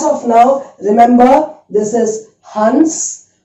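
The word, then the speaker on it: हंस: But as of now, remember, this is Hans. Hans.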